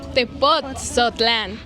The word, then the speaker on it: Tepotzotlán: Let's see, get us out of the doubt, how do you say: Tepotzotlán or Tepozotlan? Tepotzotlán. - Accenting the 'T'. - Yeah, the T.